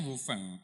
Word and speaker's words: Wufeng: Tulisannya Wufeng. Iya, Wufeng. Berarti bacanya Wufeng.